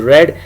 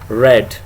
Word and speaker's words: read: and third form is red it is spelled same but pronounced red and you'll not write